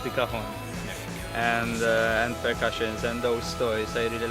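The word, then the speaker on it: cajón: I have to say, it's impressive what sounds you can get out of the cajon, is the correct pronunciation.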